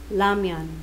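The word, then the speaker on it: 라면: Kaya, for example, sa spelling, isusulat nyo siya ng ramyan. Sa spelling ito. Pero, pag ipapatunog sa audio, or yung bigkas niya, ang basa niya is lamyon.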